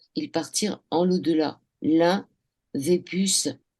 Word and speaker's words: Vépus: Jacques Le Boucher, on dit Veupus ou Vépus? Des puces. Vépus, ça s'écrit Vepus.